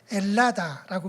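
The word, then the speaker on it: Ελλάδα: 우리가 한국인이라고 말하듯이 지금도 그리스기들을 엘라다라고 말합니다. 그리스를 H가 묵음이어서 헬라다에서 온 거예요.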